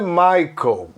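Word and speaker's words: Michael: a pronúncia de michel olha só não é michelle e michel o masculino é maicon e o feminina michel igual o nosso ex-presidente aí michel temer a pronúncia aliás se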